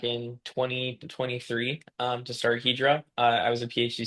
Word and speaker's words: Hedra: up hedra hedra how do we say hedra Hydra it's pronounced hedra hedra okay it's it's so it comes from